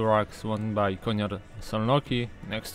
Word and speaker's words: Szolnoki: Yeah, from what I remember in the Hungarian, S and Z is pronounced S, and S itself it's pronounced Sh.